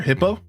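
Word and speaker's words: Hippeux: Hippo. It's just spelled this way, but it's pronounced hippo.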